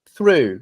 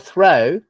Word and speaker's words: through: right you see it's it's different through it's not throw it's not throw which